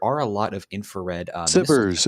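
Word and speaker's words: SBIRS: I think there's one called Spears, I don't know how it's pronounced, but there are a lot of infrared Sibbers. It's pronounced Sibbers.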